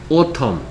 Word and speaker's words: autumn: Autumn. 발음은 autumn.